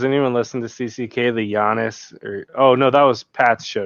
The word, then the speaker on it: Giannis: Like the word does anyone listen to CCK, the Giannis? No, that was Pat's show today. The Giannis thing? Yeah. I didn't. Like Giannis, they call it Giannis, but it should be Giannis.